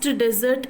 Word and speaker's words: desert: So you have observed that, what you have observed that first desert is stressed, but the second desert is unstressed.